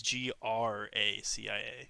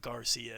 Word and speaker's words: Gracia: think it's just Garcia it's g-r-a-c-i-a yeah it's not Garcia it's Gracia then that's supposed to